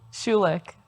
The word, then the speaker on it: Schulich: and I think I'm going to have trouble pronouncing the name of your school. Schulich. Schulich?